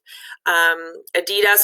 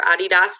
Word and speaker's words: Adidas: Adidas or Adidas, depending how you pronounce it, has to do with the name of the founder.